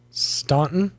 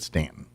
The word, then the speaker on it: Staunton: Staunton? Yes, that's how most normal people pronounce it. Right. Not the people of Staunton. They call it Stanton, and it's just Stanton.